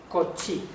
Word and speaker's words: Cauchy: Cauchy se escribe Cauchy, pero se lee algo parecido a Cauchy, ¿vale?